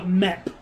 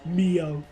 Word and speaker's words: Meopham: Cuz I had no idea like how It was just a mep. Not meo.